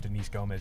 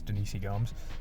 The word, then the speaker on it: Denise Gomes: It's not Denise Gomez, it's Denise Gomes.